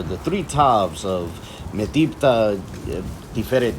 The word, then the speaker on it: תפארת: Under the influence of modern Israeli Hebrew, I'd pronounce that Metibta Tifereth Yerushalayim.